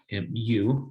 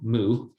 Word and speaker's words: mu: this is a greek letter mu this is pronounced m u mu mu that's how you pronounce it it's a